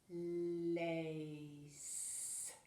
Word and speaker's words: lace: Now here the C, the K, is pronounced differently as well. We don't say lake. That would be the lake, right? And the lake has a silent E too. So if it were the tall K, it would say lake. With the little K, it says lace.